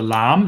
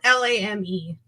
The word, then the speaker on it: lame: so it's it's spelled l-a-m-e and uh that's not pronounced lame no that means something else okay as far as